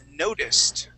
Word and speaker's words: noticed: The next word is, let's see, noticed. Okay, and noticed was, okay, right here. Noticed. It has a T ending as well.